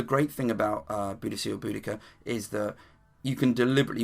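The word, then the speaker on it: Boudica: any group any venue just say uh bodhia and one of them go it's pronounced buddika but I think that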